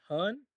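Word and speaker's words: hern: filled with coot and Hearn here hn stands for the bird called Heron but since Heron can be if if it is heron the the poem will not rhyme with with the word fern so in order to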